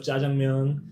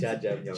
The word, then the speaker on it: jjajangmyeon: Jjajangmyeon. Jjajangmyeon. Jjajangmyeon. Am I saying it right or kind of off? I mean, I'm it's not definitely bad. Jjajangmyeon is the correct way of saying it.